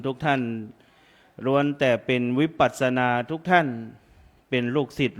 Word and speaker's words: วิปัสสนา: เวลา พิธีกร อ่าน ว่า วิ นี่ วิ ต้อง อ่าน ให้ เต็ม นะ วิปัสสนานะ เดี๋ยว อ่าน ไม่ เต็ม กลาย เป็น วิปราช นั้น เดี๋ยว อ่า อ่าน พิธีกร